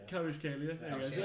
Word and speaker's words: Kvaratskhelia: Kvaratskhelia. That sounds about right. Kvaratskhelia.